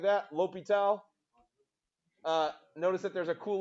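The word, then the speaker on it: L'Hôpital: His name when he was alive was that, and he changed it to not have the S in it anymore. It's weird. Okay, so it's La Hospital's rule, but we can go with L'Hopital.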